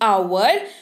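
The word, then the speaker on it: hour: अगर अच्छा लगा हो तो एस लैटर का उच्चारण नहीं किया जाएगा जैसे कि आवर और न ऑनेस्ट चिक तो चलिए बढ़ते हैं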